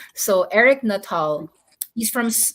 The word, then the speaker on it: Nuttall: The fund manager's name is Eric Nuttall, Nuttall, not all. So Eric Nuttall, he's from 9 Point Capital Partners.